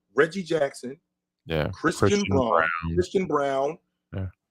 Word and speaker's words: Braun: Jackson yeah Christian Christian Brown yeah it's Brun it's Brun I don't care how he says Christian it's spelled Braun but it's brown Okay Christian Reggie Jackson